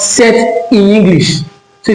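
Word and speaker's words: sept: be able to pronounce set in English. So if you can pronounce set in English is like saying seven in French but bear in mind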